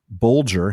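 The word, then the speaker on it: Bolger: For example, bulier has G as in bulge and math rhymes with fathom.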